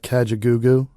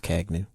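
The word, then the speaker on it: Kajagoogoo: their sound so like catch a goo goo catch a goo goo no it's pronounced kagnu nah the group kaja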